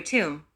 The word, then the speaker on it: Tum: When chanting the mantra Tum, pronounce the T with force over the U, then prolong the U as long as possible and in the end resound the M like a bell-like impacted sound.